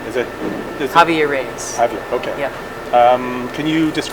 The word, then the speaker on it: Javier: How do you pronounce Javier's name? Is it Javier Reyes?